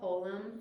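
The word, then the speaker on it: חולם: This is called holum vav. This is a vowel. Holum. It will actually make an O sound. It's an O vowel.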